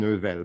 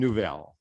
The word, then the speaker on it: Neuvel: So my name is sort of supposed to be pronounced Sylvain Neuvel, but no one does that. And when they try, it's usually worse. So That's I've why I gotten didn't used try. to Sylvain Neuvel.